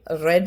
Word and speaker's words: read: പക്ഷേ സ്പെല്ലിങ്ങോ READ, same spelling, പക്ഷേ ഉച്ചാരണം വ്യത്യസ്തമായിട്ട്. റീഡ്, റെഡ്.